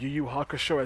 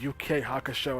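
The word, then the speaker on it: Yu Yu Hakusho: this dude slacking and he pronounced you you Hakusho as UK Hakusho and I'm like this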